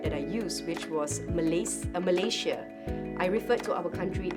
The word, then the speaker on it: Malaysia: It's not Malaysia, it's Malaysia.